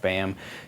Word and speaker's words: Baham: than it might seem that's simply rhymes with my my actual name bam mayam Rhymes and that's I I